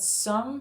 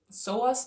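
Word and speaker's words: psoas: And um and I also noticed that some specific muscles actually have really helped to stretch. And one I want to touch on is the soas muscle. So muscle. It is spelled P S O A S.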